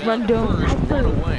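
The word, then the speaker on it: Rondón: That's how you say his name. It's Rondon. It's Hector Rondon.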